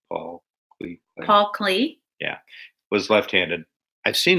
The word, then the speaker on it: Klee: Did you say Clay or Clee? Paul Clee. Clay? Paul Klee.